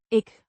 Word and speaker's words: ik: Ik. With a short I. sound. Similar to the I in pin.